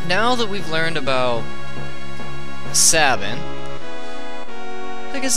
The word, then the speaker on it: Sabin: Or Sabine, or however you want to pronounce it. I say Sabin.